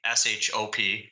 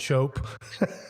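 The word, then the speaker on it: Shoppe: Not spelled S-H-O-P. It's S-H-O-P-P-E. That's how they spell it in Canada, right? Yeah. Process and process. Yeah, exactly. And shop and shope.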